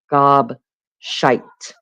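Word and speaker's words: gobshite: It's pronounced gob shite.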